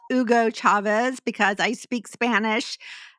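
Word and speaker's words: Hugo Chávez: and uh yes I do know how to pronounce Ugo Chavez because I speak Spanish not because of uh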